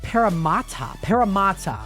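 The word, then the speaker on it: Parramatta: And yes, I think we might send her a photo, and it's pronounced Paramata.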